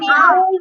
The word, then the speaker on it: owl: ওল না আউল বলতে হবে আউল কিভাবে বলবো আউল তারপরেরটা যাও পরেরটা কি দেখাও O C T O P U S octopus.